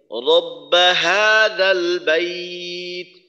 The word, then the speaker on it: رب هذا البيت: গোলহা, গোলহার উচ্চারণ, গোলহার উচ্চারণ হলকে শুরু থেকে রব্বা হাযাল, রব্বা হা, হাটাকে চাপাইয়ে বলার দরকার নেই, রব্বা হাযাল বাইত।